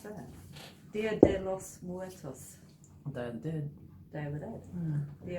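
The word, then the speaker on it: Día de los Muertos: How do you pronounce that? Dia de los Muertos.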